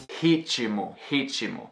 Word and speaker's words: ritmo: Ritmo, ritmo, which is rhythm in English. Ritmo is not spelled R-I-T-I-M-O. It's spelled R-I-T-M-O, but you pronounce this imaginary or epenthetic vowel as if there were an I there.